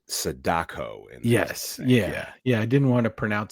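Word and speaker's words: Sadako: So it's not Samara, it's Saddako in Yes. Yeah. Yeah. I didn't want to pronounce it incorrectly.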